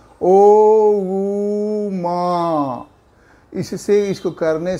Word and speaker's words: ओम: ओम का उच्चारण करते समय 3 पार्ट बांटते हैं उसको। ओ ऊ मा।